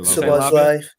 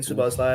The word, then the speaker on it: Szoboszlai: That's a Szoboszlai. I'm saying Szoboszlai.